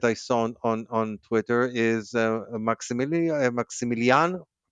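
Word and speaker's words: Maximiliano: Um, and another interesting thing that I saw on Twitter is Maximilian. That's how you pronounce it.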